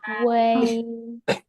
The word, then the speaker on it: wei: wei. Way. Wei. Wei. Jadi hati-hati kalau UI Way. nanti dia dibacanya jadi wei. Way. Seperti itu bukan Way. wi ya, Way. tapi wei ada e-nya. Wei.